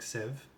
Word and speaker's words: sieve: uncultured you're learning that this is first pronounced like sieve not deceive and a sieve issue is